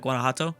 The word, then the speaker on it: Guanajuato: Oh something like that Guanajuato something like that I don't know Jays are supposed to be pronounced as H's that's that's the only thing